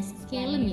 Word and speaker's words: scalene: terus antagonisnya trapezius, habis itu sinergisnya otot yang membantunya itu scalene sama apa ya bacanya? Scalene ya?